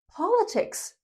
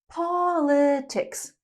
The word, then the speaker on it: politics: Number two, word stress is important. I often hear students using the wrong word stress. So, let's look at word formation and word stress. The person is a politician. Politician. The topic is politics. Politics, not politics.